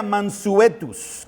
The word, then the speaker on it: mansuetus: Manso se deriva de la palabra latina que se pronuncia mansuetus, que significa dócil, domesticado, apacible.